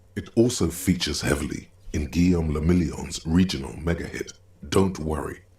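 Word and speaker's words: Guillaume Le Million: Guillaume Lamillion. Yeah. What he said. If it doesn't rhyme, you're not pronouncing it right.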